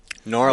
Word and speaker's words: New Orleans: I I lived in New Orleans for many many years you didn't say it right Norland Norland there you go well she lived